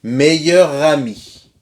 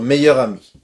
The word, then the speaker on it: meilleur ami: ami meilleur ami d'accord là il faut faire la liaison entre meilleur et a mis notre meilleur ami d'accord notre meilleur ami il est 16h45 et